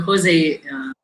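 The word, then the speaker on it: José: So it is in Spanish, it is J is pronounced as her. So Dr. Jose is the right word.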